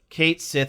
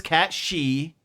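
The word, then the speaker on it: Cait Sith: just hope in in Final Fantasy 7 rebirth Kate Sith is actually a usable character and I don't care that his name is cat shei really that's how they say it's pronounced that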